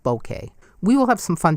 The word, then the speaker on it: Bokeh: of Japanese origin its bouquet bouquet so the emphasis is on the first syllable but I fear you'll